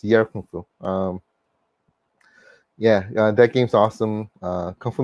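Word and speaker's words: Yie Ar Kung-Fu: I used to pronounce it Yari Kung Fu. I mispronounced it. I think it's Yar Kung Fu.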